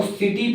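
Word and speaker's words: city: ए ए रहा हो तो हम सी से एस का उच्चारण करेंगे जैसे हम देखते हैं तो हम इसको सिटी पढ़ने हैं ना की हम इसे किटी पड़ता है इसी प्रकार लिखा तो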